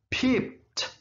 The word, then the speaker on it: peeped: Kalau pakai ed, bunyinya ada T di belakang. Peeped. Itu ada T.